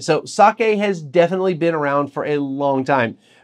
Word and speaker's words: sake: So something like sake is we sometimes emphasize the K as sake, or go sake. It's sake, and every syllable is the same amount of time and the same emphasis.